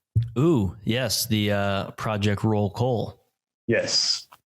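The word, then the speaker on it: Rolecole: yes the uh project roll cole yes project roll call r-o-l-e-c-o-l-e if you spell it right you're wrong that's right spell right wrong project roll call is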